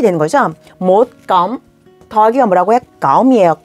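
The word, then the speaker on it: cộng: 거죠 못감 더하기가 뭐라고해 감이에요 껌이 아니에요까 성조가 낮아져야 돼요까 힘드네요 계속 낮은 발음을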